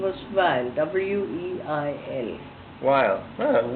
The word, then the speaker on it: Weil: My maiden name was Weil, W-E-I-L. Weil. Oh, Wheeler. Weil. Is that Here Wheeler? they pronounce it Weil.